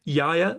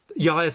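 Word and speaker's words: Iaia: Well, one of the few named women artists of antiquity is Yaya of Sysicus. I'll spell that for you.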